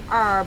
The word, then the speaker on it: herb: The way people pronounce like herbs. Some people say herb and then some people yeah, say herb. It's like the H is silent, you know.